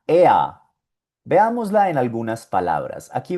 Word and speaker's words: er: La E con la R suena EA. Veámosla en algunas palabras. Aquí vemos el pronombre personal EA. EA es un pronombre masculino. Aquí aprendimos que sie significaba ella. Pues ea significa él.